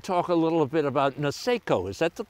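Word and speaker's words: Niseko: go back and talk a little bit about naso is that the correct pronunciation uh nisso yes nisso oh you say nisso uh as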